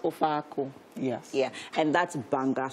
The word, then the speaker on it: Ofe Akwu: But it's pronounced Ofe Akwu.